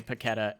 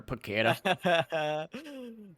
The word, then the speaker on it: Paquetá: That was the most southern way to say Paquetá ever. Paquetá. I mean, we had a chat beforehand, didn't we? Like whether we want to go full South American pronunciation and say Paquetá or something like that. But for us who are noobs, basically, in this field, Paquetá is just easier and better.